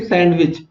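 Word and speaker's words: sandwich: अगला प्रश्न, विच letter is silent in the word सैंडविच। तो दोस्तों इसमें कौन सा लेटर साइलेंट है या जिसको हम बोल नहीं रहे? तो देखिए सैंडविच ऐसे ही पढ़ा जाता है ना, तो हमारा सही आंसर क्या होगा? डी।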